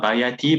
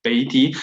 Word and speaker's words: بيتي: Like, there's a sakin on the ya. Bay, not baya, not bayati, but bayti.